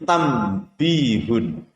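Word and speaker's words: تَنْبِيهٌ: Contoh yang kedua adalah tertulis tanbihun, tanbihun, membacanya menjadi tambihun atau tambih.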